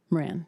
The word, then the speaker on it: Moran: Moran, or is it pronounced, am I pronouncing it correct? Moran, thank you.